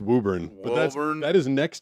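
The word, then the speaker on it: Woburn: It's pronounced Wuburn.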